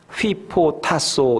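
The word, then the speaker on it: ὑποτάσσω: 를 하나 말씀을 드리면 휘 포토 타 소 이렇게 발음을 합니다 이 단어는 어떤 상황에서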